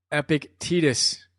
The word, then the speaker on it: Epictetus: Epictetus. If you're reading the PDF, I would explain to you how to pronounce that, but I just said it out loud, so we're good there.